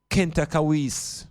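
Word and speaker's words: Khentkawes: civilizations the name of this queen now is Kent kawis the third it is spelled k h e n t a k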